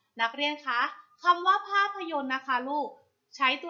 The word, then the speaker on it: ภาพยนตร์: แรก ค่ะ คำ ว่า ภาพยนตร์ ภาพยนตร์ อ่าน ว่า ภาพยนตร์ ภาพยนตร์ ประกอบ ไป ด้วย พอ สำเภา สระอา พ.